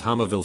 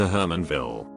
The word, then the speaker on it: Hermanville: I thought the town they lived in was called Hummerville for a whole year cause that's how they pronounced it until we drove a different way one time and there was a sign that said welcome to Hermanville.